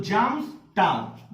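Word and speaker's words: Samstag: के बाद आता है, इसलिए एस के बाद जब आ आया है तो ये जा हो जाता है, क्योंकि ए को हम लोग आ प्रोनाउंस करते हैं, तो ये हो गया जा, तो जाम्स टाग, ध्यान रहे, जाम्स टाग, ठीक है।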